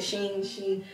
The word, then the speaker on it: Shein: Shein, how do you pronounce that? Shein.